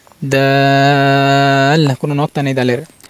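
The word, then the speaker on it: د: দাল কোনো নক্তা নেই দালের। দাল দাল দাল স্বাভাবিক উচ্চারণ হবে।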